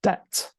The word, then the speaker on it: debt: just to mention there, the 'b' in 'debt' is silent, so it is pronounced 'debt', ok?